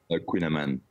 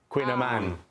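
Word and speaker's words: kouign-amann: No, okay, how do you actually say it, though? Queen Amon. Queen Amon. Okay. So close.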